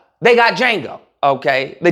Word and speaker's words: Django: They got Django. Okay. the D is silent.